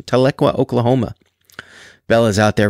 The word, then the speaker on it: Tahlequah: Pronunciation? Tahlequah, Oklahoma.